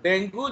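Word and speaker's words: dengue: लोग, even doctors, उसको डेंगू बोलते हैं। समझ रहे हो? आप देखोगे डॉक्टर्स लोग आते हैं न्यूज में, वो लोग भी डेंगू डेंगू बोलते हैं, बट एक्चुअली उसका प्रोनाउंसिएशन है डेंगी।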